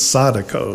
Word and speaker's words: Sadako: Actually, Sarah Walls, one of our cast members, actually in the script there is a phonetic pronunciation. So according to the script of the play anyway, it's Sadako Sasaki.